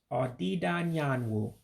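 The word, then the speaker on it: ọdịda anyanwụ: blend the letters uh remember the first word ends in the vowel the second word starts with a vowel so you eliminate one of them and you're going to drop the a in anyangu so it becomes audi don yanwu for sunset and i'll say it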